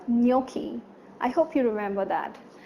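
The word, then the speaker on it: gnocchi: from its Spelling's remember it's not Ghannouchi but no key I hope you remember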